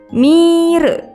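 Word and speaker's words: ミール: Ditulis dengan huruf katakana jadi mi, strip, re, mire.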